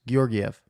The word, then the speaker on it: Georgiev: Is it hard G's or soft G's? What do you say? A hard G to start. It's all hard G's. Georgiev.